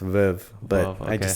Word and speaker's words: Veuve: Well, it's pronounced Veuve, but I just say Veuve cuz we're in El Paso.